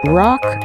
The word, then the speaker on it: ROC: Now, how about some news you can use Rock United, that's spelled ROC, United.